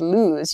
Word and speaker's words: lose: and lose loose and lose you can hear maybe the the difference in vowel sound loose and lose so loose is an